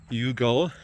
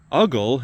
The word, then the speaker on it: Yugal: unconditional gift of love, Yugal, or you could pronounce it Uggle, and that's a little more fun to say, but I like Yugal because it reminds us of unconditional.